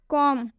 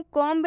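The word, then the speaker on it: comb: जैसे कि आप एग्जाम्पल भी देख सकते हैं, कॉम, कॉम में एम के बाद से बी आया हुआ है, इसलिए हम इसमें बी का उच्चारण नहीं करेंगे। इसे हम कॉम्ब नहीं पढ़ेंगे, इसे हम कॉम पढ़ेंगे। अगर आप इसे कॉम्ब पढ़ते हैं तो इसका उच्चारण गलत हो जाएगा।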